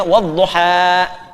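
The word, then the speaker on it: والضحى: Karena itu dibacanya wadduha. Paham? Baik, aslinya ada kasrahnya di belakangnya, wadduha.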